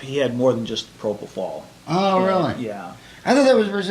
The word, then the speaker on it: propofol: But didn't you think that was strange that his doctor was putting him to sleep with Propanol? Yeah, propofol.